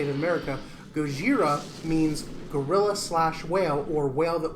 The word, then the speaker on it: Gojira: Gojira, which is the original term, and Godzilla was a mispronunciation, but it's how we say it in America. Gojira means gorilla/whale, or whale that walks upright like